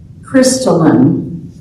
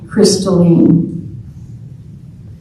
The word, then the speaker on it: crystalline: The word is crystalline. Could also be pronounced crystalline, meaning transparent, pure.